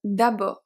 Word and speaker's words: d'abord: We have d'abord. D'abord. So the final D is silent.